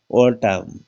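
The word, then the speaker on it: autumn: तो इसमें क्या है, लास्ट में कॉलमन तो नहीं बोलते इसको, अन का उच्चारण नहीं होता, अनसाइलेंट होता है, क्या लिखा जाता है, कॉलम। ये देखिएगा ऑटम, ऑटम लिखा जाता है, ऑटमन नहीं लिखते क्योंकि अन होता है वो साइलेंट होता है।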